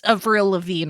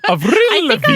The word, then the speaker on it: Avril Lavigne: Are you pronouncing Avril Lavigne like that on purpose? Am I what did I say? I've heard Avril instead of Avril, and I think it sounds so fancy.